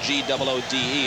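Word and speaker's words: Goode: With Sutkowitz, Pierre Good. To about the 28. By the way, for those not familiar with the Alabama squad and seeing the spelling on the graphics, G-O-O-D-E, it is pronounced Good, not good.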